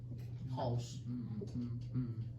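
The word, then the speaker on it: Haus: Braddock wanted German house and I know how to spell house in German. That's weird. Yeah, and German. also it's pronounced house.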